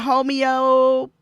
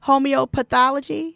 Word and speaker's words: homeopathy: Roz was just talking about homeopathy. Did I say, how do you say it again? Homeopathology. Am I saying it? Homeopathy. That one.